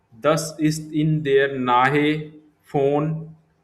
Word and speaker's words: von: Das ist in der Nähe von V pronounce as F in German.